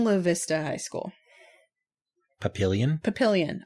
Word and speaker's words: Papillion: The building they used was Papillion La Vista High School. Papillion? Papillion. I know it looks like Papillon or Papillon or whatever. In Omaha, we say that Papillion.